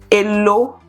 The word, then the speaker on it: Elo: Then, how do you say how much in Yoruba? Elo. Elo. Spell it. Elo. E-L-O. But the sound.